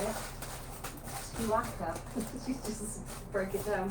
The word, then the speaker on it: Tuaca: Oh, Tuaca. That's how you say it. Tuaca.